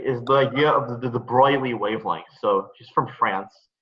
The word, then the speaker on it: de Broglie: the idea of the de Broglie wavelength so she's from France so a lot of people mispronounce that as like the broccoli so that's why I